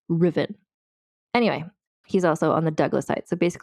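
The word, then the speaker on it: Ruthven: pronounced this as Lord ruthen which is how it is spelled but I've been informed by Scottish people that you don't say the T it's Lord riffen which feels very weird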